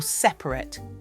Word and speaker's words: separate: Or separate. Same thing, the vowels aren't super clear when you say it.